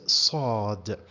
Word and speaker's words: ص: welcome well the first the first letter is called in Arabic or pronounced in Arabic as Sode Sode guys if you see it's not said now s is the equivalent of the Arabic letter seen but here it's Saad Saad if you see here